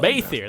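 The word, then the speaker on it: Bheithir: Baethier, that's how you pronounce it.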